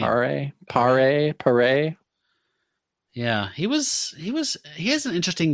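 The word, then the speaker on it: Paré: Pare.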